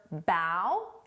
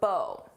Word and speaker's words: bow: You can pronounce this as either bow or bow. It depends on how it's being used.